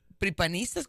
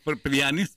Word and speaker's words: prianistas: A ver, sí, para aquellos que dicen que este eres Hilario y tú son este como eh pripanistas, ¿cómo se dice? Prianistas. Prianistas, prianistas.